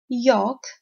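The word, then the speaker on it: yolk: part of the egg Yawk never see York it's York glass and they're most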